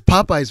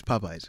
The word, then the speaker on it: Popeyes: He says Popeye's very weird.